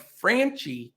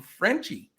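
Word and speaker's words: Franchy: It says when you look at it, it looks like Franchi Cordero, but I think everybody calls him Frenchy Cordero.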